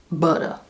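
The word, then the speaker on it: Butta: It's spelled B-U-T-T-A, butter. You can't not say it like that.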